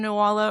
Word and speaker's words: Nuala: the pet names, and then I was thinking Nuala or Cerridwen, that's how you pronounce them.